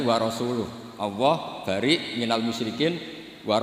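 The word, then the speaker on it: وَرَسُولُهُ: Wa rasulih juga tidak ngurus Rasulnya. Kalau sama Rasul saja tidak ngurus, apalagi sama kita. Sama Sayyidina Ali dibenarkan, yang benar bacanya itu wa rasuluh.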